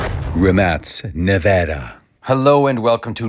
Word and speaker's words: Rimac: I found a quote from the actual CEO who says the name of this company is Rimac. He decided to go with the international pronunciation because that's what you do when you want a company to be international.